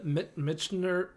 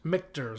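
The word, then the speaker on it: Michter's: I want them in can 10 year the M mner uh I'm not saying that right mters yep how do you say it mters mters that's right mters mters they're uh they're 10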